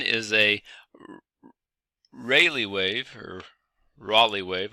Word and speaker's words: Rayleigh: One is a Rayleigh wave, or Raleigh wave. To be honest, not sure which way to pronounce that, but it looks to me like Rayleigh. Okay, Rayleigh wave, so that's how I usually pronounce it.